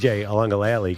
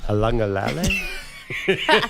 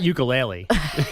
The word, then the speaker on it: Uiagalelei: DJ Uiagalelei? Wait, you guys say it. Uiagalelei, you know? Oh, Uiagalelei? I can't remember. It's He was closer. It's Yeah. not ukulele. Uiagalelei. It's not that.